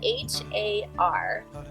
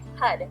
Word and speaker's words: Har: practice is HUD and it's spelled h a r but you don't say it like har say HUD the tip of the